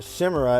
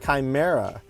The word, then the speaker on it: Chimera: And I've been pronouncing it wrong. It's not Chimera, it's Chimera.